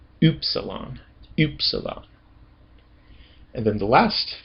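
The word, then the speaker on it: ὖ ψιλόν: Doesn't actually really sound like U. Oopsalon.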